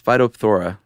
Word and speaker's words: Phytophthora: I think there's got to be some silent letters in there. There's a lot of consonants strung together. It's Phytophthora.